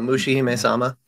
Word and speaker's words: Mushihime-sama: butcher this, so Josh, you'll have to correctly pronounce it. You're talking about Mushihime-sama? Yes, thank you. Yeah. If anyone in this chat hasn't played Mushihime-sama, like that's my homework for you.